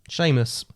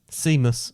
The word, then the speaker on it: Seamus: What about this? S-E-A-M-U-S. Seamus. So, but if you pronounce that how you look at it, what would that be? Seamus. Yeah. But it is Seamus.